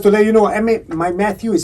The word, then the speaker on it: Mathieu: right oh just to let you know my matthew is spelled yes yes h-i-e-u yes correct it's french